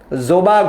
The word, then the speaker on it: জবা: ওয়াজিহা হক, রুবাইয়া তিন্নুর, জোবা ঘোষ, তোমরা প্রত্যেকে উত্তর জোবা না, সরি জবা ঘোষ, আমি ভাবছি জোবা হবে উচ্চারণ।